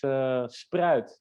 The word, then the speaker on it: Spruit: Well, first for you, Roger, my last name pronounces as spruit in Dutch.